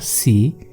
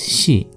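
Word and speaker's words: し: So here it's not si, it is shi.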